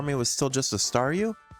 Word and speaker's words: Staryu: was still just a Staryu, I could never pronounce this name right. It always ended up sounding like saw you.